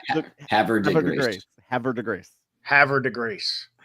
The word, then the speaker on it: Havre de Grace: Havre de Grace.